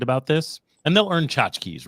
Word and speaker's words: tchotchke: Tchotchke, like if everybody who comes to the event gets a shot glass with this on it, you might call it a tchotchke, right?